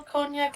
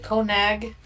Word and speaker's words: cognac: How do you spell cognac again? It's like Conag. It's Cognac. it's like this. It's French.